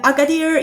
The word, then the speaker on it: Agadir: the town is called agadir is that how you pronounce it agader uh agader yeah we're working a